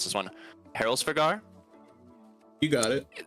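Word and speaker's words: Hræsvelgr: a feathered wyvern, like it's always hard to pronounce this one. Heroldsvigar?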